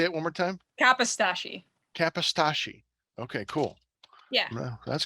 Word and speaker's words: Kapostasy: Well, Kapostasy. That's not a problem. Kapostasy.